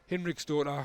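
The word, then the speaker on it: Hinriksdóttir: And I did think the Icelandic player for Leicester, Sarah Hinrichsdottir, I wasn't sure about that one, but apparently it is exactly how you say it.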